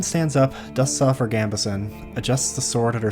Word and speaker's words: Gambeson: Why is it a minute long to tell me how to pronounce Gambeson? Gambison. Gambison. Gambison. Gambison. Okay, Gambison. I'm just going to trust it.